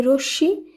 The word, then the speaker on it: রশ্মি: এখানে দুবার উচ্চারিত হবে একইভাবে রশ্মি এখানে তালিবস এর সঙ্গে ম যুক্ত রয়েছে তাই শুদ্ধ উচ্চারিত শব্দে তালব্যস দুবার উচ্চারণ করতে হবে একইভাবে পদ্ম দুইবার